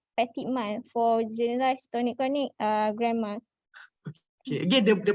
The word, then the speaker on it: grand mal: So ni grand mal. Grand mal. So it's French.